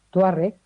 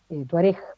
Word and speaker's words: Tuareg: se llama de los Tuareg, Tuareg, perdón, más mm, con el acento en la final.